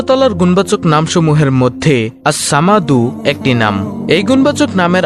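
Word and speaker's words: ٱلصَّمَدُ: এই আস সামাদ নামটি হল আল্লাহর 99 টি নামের মধ্যে একটি নাম। আল্লাহর এই গুণবাচক নাম আসসামাদু এর জিকিরের আমল ও ফজিলত তুলে ধরা হলো| নামটির সঠিক উচ্চারণ হল আসসামাদু অর্থ হলো তিনি কারো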